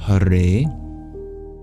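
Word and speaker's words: Hare: it always starts with huray h a r e is how you transliterate that in English the E is pronounced like a and it's double length meaning that you pronounce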